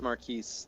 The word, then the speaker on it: Marquise: If it doesn't have the E on the end, it's Marquis. If it has the E on the end, it's Marquise. Right.